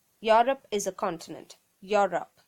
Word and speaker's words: Europe: one is we have learnt in school saying you rope no it's Europe Europe is a continent Europe not Europe next one